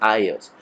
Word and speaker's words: iOS: Y bueno, y ellos se llaman iOS, se escribe iOS, se pronuncia iOS.